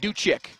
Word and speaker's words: Ducic: luca ducic i'm sorry he pronounces it do chick slight difference well up and uh